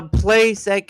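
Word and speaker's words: placek: Rhymes with wreck.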